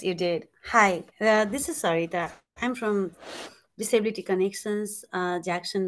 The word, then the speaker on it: Sarita: Oh, Sherry or Sarita, did I pronounce that right? Yes, you did. Hi, this is Sarita.